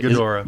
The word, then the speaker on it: Ghidorah: How do you pronounce that? Ghidorah.